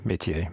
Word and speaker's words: métier: Yeah, métier.